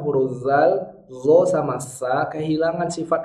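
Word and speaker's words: ذ: Siratal lazi, zi. Jangan dibaca syiddah. Contoh siratal ladzina an'amta 'alaihim. Siratal ladzi. Kenapa ladzi? Karena posisi lidahnya tidak di ujung gigi. Jadi zalnya tidak bisa ngalir.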